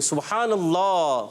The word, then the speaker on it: سبحان اللہ: دیکھیں با میں کلکلا ہوا, ہا کی ادائیگی ہوئی اور سبحان اللہ.